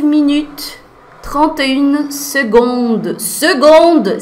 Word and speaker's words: seconde: Seconde, Cécilia, você tá pronunciando com a letra G, com som de G, mas se escreve com C. É, c'est la vie. Esse daí realmente é uma das palavras que mais causam, perturbam os franceses também, tá, gente? Os nativos também, eles ficam meio injuriados com esse C aí, que se pronuncia G.